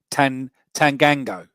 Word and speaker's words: Tanganga: Tanganga.